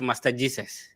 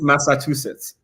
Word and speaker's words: Massachusetts: Somebody said you're studying at Master Jesus. It's Massachusetts. Yeah, That's how I pronounce it.